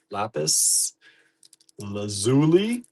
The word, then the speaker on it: lapis lazuli: Lapis lazuli. Lapis lazuli. Lazuli. Lazuli. Lapis lazuli. Or lazuli, depending on where you're from. It's pronounced both ways.